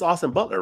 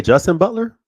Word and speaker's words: Austin Butler: It's Austin Butler, right? Austin Butler. Yeah. What did I say? Justin Butler?